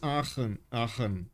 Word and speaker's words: Aachen: Okay, it's Aachen.